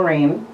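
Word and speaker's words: Reign: named the baby Royal Rain. What? Royal Rain. Rain? I like Rain. Rain Royal is cute. Rain. It's spelled R-E-I-G-N. Yeah. Rain, like royalty.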